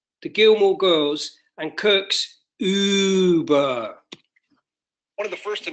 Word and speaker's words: Uber: And it's pronounced Uber. Stop making that sound.